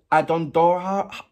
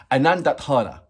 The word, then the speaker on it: Anondodhara: Is it Adondohara? Nah. Let's go to the to our Bible of translation, Google. Anondodhara. There you go. Now, let me know if Google Translate is right. So, Anondodhara.